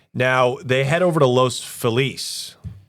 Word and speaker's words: Los Feliz: Now they head over to Los Feliz. Los Felis as the idiots in Los Angeles pronounce it.